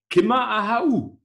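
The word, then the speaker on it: Ciamar a tha thu: Und es wird ausgesprochen ganz einfach: Kimmer Ahau.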